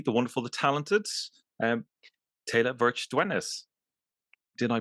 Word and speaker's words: Teila Verch Dywenys: the the lovely the wonderful The Talented um Taylor vir ders did I pronounce that correctly you did you did well